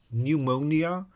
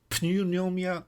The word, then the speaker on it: pneumonia: people died in their 30s from oh it is the silent P in English that that bugs me so pneumonia punomia pneumia you know when when sort